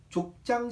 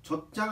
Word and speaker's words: 족장: 그리고 12장부터 50장까지는 족장 시대라고 할 수 있습니다. 발음에 주의하세요. 젖장 아닙니다. 족장. 정확하게 족장 이렇게 얘기를 해야 돼요.